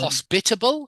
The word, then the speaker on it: hospitable: It's on the spit in hospitable. Hospitable, hospitable. They are hospitable. Excellent. They are hospitable. Good. I'm just trying to show you where the stress is in the word.